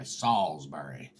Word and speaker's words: Salisbury: the pronunciation it says right there it says Salisbury the pronunciation that says s-a-u-l-z dot b-u-r-y Solsbury another one when we moved to me and